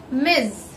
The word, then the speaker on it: Ms: Ms. Yes, here the pronunciation is Z. Here the pronunciation is totally different. First one was Miss and second one is Ms. Focus on the sound Z and Z.